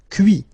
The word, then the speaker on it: cuit: Cuire, cuit. Détruire, détruit. Instruire, instruit. Okay, so you can notice that even if I put this final T, so as usual, I don't pronounce it.